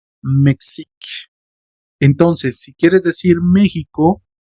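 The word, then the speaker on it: Mexique: La pronunciación, la recuerden la e final no suena. Mexic.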